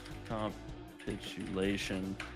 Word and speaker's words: capitulation: Emphasis on the second. So capitulation.